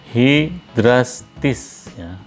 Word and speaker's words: hydrastis: dibacanya menjadi xanthoriza Nah untuk huruf y menjadi ini jika didahului dan atau diikuti oleh huruf mati contoh katanya hydrastis dibacanya menjadi Hei drastis maydis menjadi May Edition